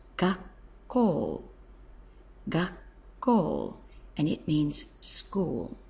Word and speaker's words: 学校: moment, to make this combination word, which is pronounced gakkou, gakkou, and it means school.